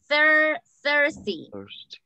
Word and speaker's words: thirsty: Thirsty. Sediento. Very good. And the pronunciation. La pronunciación sería como así. I will show you. Thirsty. Thirsty. Mm-hmm. Así como con la Z en español.